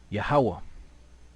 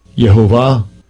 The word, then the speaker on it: Yahawah: strongs H 368 yahovah yahovah right so he said yahovah right which is close but it's not the most High's name right so